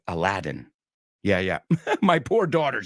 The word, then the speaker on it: Aladdin: Tarzan yeah we don't pronounce anything alike Aladin we say Aladdin yeah yeah my poor